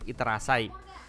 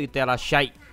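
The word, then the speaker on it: いってらっしゃい: Gue juga nggak ngerti kenapa itu harus pakai sya ya daripada sa ya, bukan iterasai. Tapi karena mungkin dari dulu pronounce-nya begitu iterashai gitu loh. Jadi ditekankan sya-nya.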